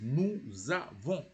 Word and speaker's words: nous avons: it changes into avons, you have to join it as nous avons.